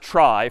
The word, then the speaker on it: trie: a fancier tree and it's short for retrieval but pronounced try for weird historical reasons but a try is